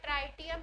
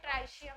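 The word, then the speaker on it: tritium: प्रोटियम, ड्यूटीरियम, और तीसरा वाला है ट्राइटियम या ट्राइशियम भी बोलते हैं, ट्रिटियम भी बोलते हैं कई लोग। और मर्जी है, प्रोनाउंसिएशन अलग है।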